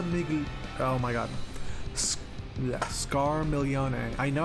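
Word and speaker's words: Scarmiglione: boss's name scar Mickey oh my God yeah scar milione I know how to pronounce it I'm stuttering okay scar miglione yeah good job honey proud of you I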